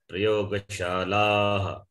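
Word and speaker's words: प्रयोगशालाः: Utpitikaha, prayoga shalaha, not shalaha. We don't do say like that. It goes along with the vowel.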